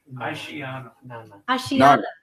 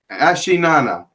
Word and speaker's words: Asheanana: Asheanana. Asheanana. Asheanana. It's spelled Asheanana.